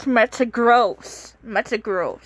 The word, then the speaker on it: Metagross: It's pronounced Metagross. Metagross, not Metagross.